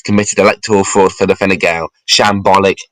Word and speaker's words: Fine Gael: I have been sent a link in my direct messages here of how to pronounce Fine Gael. Fine Gael.